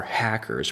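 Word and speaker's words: HACRs: quickly evolved regions our hackers pronounced like hackers regulate genes not very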